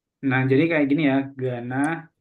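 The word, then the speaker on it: Ghana: jadi kayak gini ya Gana kalau Gana yang Afrika tadi jadi h-nya enggak perlu dibaca oke silakan yang ini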